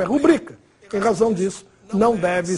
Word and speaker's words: rubrica: Muita gente fala rúbrica, mas oficialmente essa palavra é paroxítona, ou seja, a pronúncia oficial é rubrica.